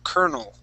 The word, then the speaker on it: colonel: okay okay now uh this L is going to PR be pronounced like an R we're going to say CER kernel kernel there you go Lieutenant